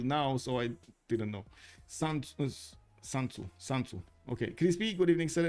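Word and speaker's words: Sun Tzu: You mean I need to pronounce it Sanzu? Okay, I guess. I don't know why I pronounce it soon. Okay, I can explain. It's because I pronounce it half in Romania. I'm sorry. Sun is pronounced Sun in Romanian.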